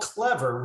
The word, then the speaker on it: CleVR: normally have um but we're called clever which is spelled c-l-e-v-r because we also have